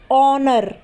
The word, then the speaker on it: honour: तो ऑनर में भी H आ रहा है, लेकिन H क्या है, साइलेंट है, यानी कि हम H को नहीं बोलेंगे। हम क्या बोलते हैं, ऑनर।